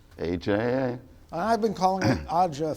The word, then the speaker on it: AJA: row before this interview debating how AJA is pronounced, and your answer is? AJA.